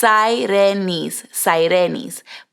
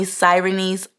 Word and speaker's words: Sahirenys: So I'm going to break it down to you guys phonetically. It's Sahirenys. But if you can't roll your R's and you have to call me Sahirenys, I will respond.